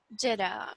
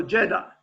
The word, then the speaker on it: Jeddah: Jeddah, without the H at the end. So Jeddah.